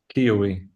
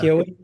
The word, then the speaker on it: Keowee: How do you pronounce it? Keowee. Yeah. Keowee.